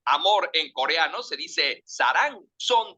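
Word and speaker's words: 사랑: Amor en coreano se dice sarang. Son 2 sílabas y se escribe así: S-A-R-A-N-G.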